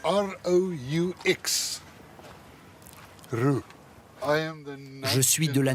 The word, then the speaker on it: Roux: Comment ça s'écrit? R-O-U-X.